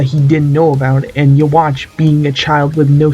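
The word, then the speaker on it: Yhwach: i am talking about the quincy warrior himself yawa or walk or you walk what the how do you pronounce this all right i just checked it out uh it's pronounced you watch which makes sense because of how almighty works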